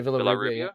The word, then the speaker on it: Villarrubia: So Maberry Gugliotta and I don't know how to pronounce the other name, Villarrubia. Oh yeah, Villarrubia.